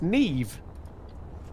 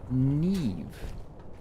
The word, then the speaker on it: Niamh: person to come in, is spelled Niamh. I'm not gonna even try that. I'm not. It's Neve. Neve.